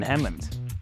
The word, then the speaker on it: Hemmant: to see 13 tawanga Street in Hammond rhymes with them lots of stuff that's